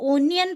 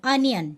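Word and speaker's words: onion: पियाज इंग्लिश रे कहबा अनियन, यह को ओनियन पढ़िबेनी अनियन, ठीक अछि। करेक्ट प्रोनाउंसिएशन हैला अनियन, ठीक अछि।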